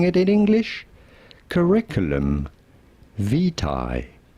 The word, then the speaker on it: curriculum vitae: How do you go about pronouncing it in English? Curriculum vitae. Curriculum vitae.